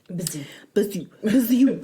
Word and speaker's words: Bijou: Bijou. I love how you say it. It's French. It's the Bijou.